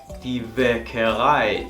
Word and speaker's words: Bäckerei: en una misma palabra, esto se va a pronunciar como ai. Por ejemplo, klein, pequeño, klein. También hace que este sonido largo, klein, der Wein, el vino, der Wein, die Bäckerei, la panadería.